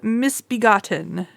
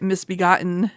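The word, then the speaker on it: Misbegotten: This is Stargate Atlantis season 3, episode 2, Miss Begotten. I don't know why I pronounced that T like I'm not from Connecticut. Miss Bebgotten, excuse me, instead of Miss Begotten.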